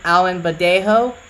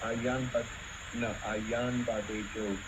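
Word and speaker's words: Ayanbadejo: I don't want to mispronounce it. If I am, I'm sorry. Femi Alimbadejo. Is that correct? Ayan Badejo.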